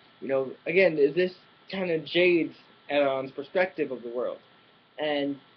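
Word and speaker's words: Hernán: You don't pronounce the H in Spanish name, so it's Aaron, not Heron.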